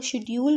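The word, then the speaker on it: schedule: है वो British English में जो है वो शेड्यूल को कहा जाता है श की वाज के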